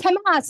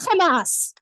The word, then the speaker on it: Hamas: And it's pronounced Hamas, not Hamas.